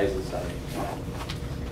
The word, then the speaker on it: Eisenstein: Eisenstein. Not Einstein, kind of like Einstein, but the next is an extra syllable.